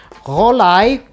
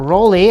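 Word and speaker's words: Rollei: It's Rolai, or Rolly, as many Americans pronounce it, or English-speaking people tend to pronounce it.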